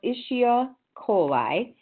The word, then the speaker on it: Escherichia coli: And so that infectious organism is, and I spelled it out for you because we always just call it E. coli, but I believe it's pronounced Escherichia coli.